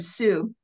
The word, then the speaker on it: Sioux: Sioux Wars. It is pronounced Sioux.